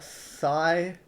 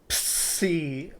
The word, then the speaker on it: psi: You know how people say how this one is a sigh? Sigh? Yeah, you're gonna need a psychologist after knowing these letters are pronounced differently. However, psi, psi, not trying to offend anyone, but if it's pronounced like that, psi, psi.